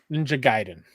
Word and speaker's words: Ninja Gaiden: Is it Ninja Gayen or Ninja Giden? Ninja Gaiden.